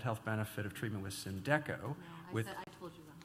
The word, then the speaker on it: Symdeko: And the next question is about Symdeko or Symdeko. I never learned which it was. Which is it? I should pronounce it Symdeko.